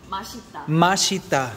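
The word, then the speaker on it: 맛있다: says how do you say delicious in Korean mashita oh my God that's so good um he's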